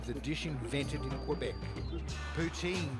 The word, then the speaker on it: poutine: as a year's sponge is largely mispronounced here where it's predominantly French it's called poutine that Harvey helps it